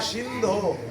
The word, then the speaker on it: সিন্ধু: বলেছিলাম হে কৃষ্ণ করুণা সিন্ধু ও এর মত উচ্চারণ করতে হবে আমরা উচ্চারণ করি সিন্ধু